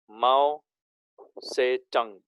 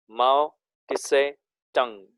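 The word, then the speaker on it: Mao Tse-tung: माओ से टंग, MAO-TSE, again dash TUNG, माओ टिसे टंग। Actually उसे टिसे नहीं बोलते हैं, से बोलते हैं खाली, माओ से टंग ऐसा नाम है, लेकिन टी साइलेंट है उसमें।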